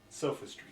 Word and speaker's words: sophistry: Perplexing Sophistery. Oh, that's why I play this game. Listen to you try and pronounce words. It's fun. Sophistry, Tom. Sophistry.